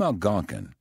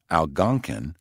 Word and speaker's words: Algonquin: The name Algonquin, pronounced Algonquin or Algonquin, and also spelled Algonkin, causes much confusion.